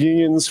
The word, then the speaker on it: UNIONS: And this one is called unions, which is one of these clever acronyms. I pronounce it onions to bug the person who came up with this acronym.